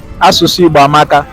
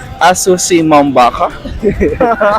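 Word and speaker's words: Asụsụ Igbo amaka: Asusu Igbo amaka. Asusu Mambaka. No. Asusu Igbo amaka. Asusu Muwabaka. Asusu Igbo amaka.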